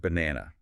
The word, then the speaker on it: banana: Take the word banana. It's spelled with 3 A's, but we only stress the middle one, ba and ina. Right. The first B and the last N are not A sounds at all.